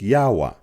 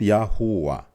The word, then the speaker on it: Yahwah: have the hey sound so if you take the yod and the he they make the yah sound yah as you see in the third row here the yah sound whereas the rest of the sound the W and the H they make the W sound together if you put these words together they make yahwa yahwa not yahua and will show you